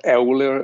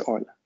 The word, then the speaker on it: Euler: So Germans pronounce his two first letters as Oi. So his name is not Euler or something, it's Euler.